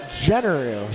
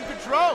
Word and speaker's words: Generu: Dennis's last name is pronounced Generu. So. You called him Gaudreau.